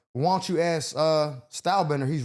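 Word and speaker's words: Stylebender: I said store bender. I said it wrong. It's style bender.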